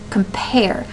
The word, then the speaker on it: compare: that have multiple syllables so we have compare compare where does that where do the um stresses occur compare well it sounds to me like pair is a little more emphasizing the idea of come